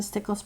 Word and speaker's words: Stickles: jar of potpourri cousin Stickles pronounced as it's spelled has disappeared from her